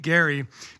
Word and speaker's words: Gerry: Nate Gary Gary it's it's pronounced GA ry but spelled ger oh I did was